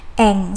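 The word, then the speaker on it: 円: 500 Yen seperti itu Nah memang cara pengertiannya adalah Yen tapi untuk kanji Seperti ini cara bacanya adalah Ang seperti itu ya teman-teman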